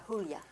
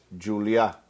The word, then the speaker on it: Julia: your name Raul Julia it's not the H sound it's not Jula well Julia would be in Spanish Julia is in Catalan and my has always pronounced it like they pronounce it in in Catalan so say it one